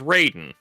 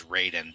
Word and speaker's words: Raiden: of those like you understand how hard it is also for me to pronounce the Mortal Kombat character's name as Raiden because that is like Oh yeah, Ryden. It's it's how they pronounce it in Mortal Kombat, which is a western franchise. The fact that it's mythologically wrong is irrelevant.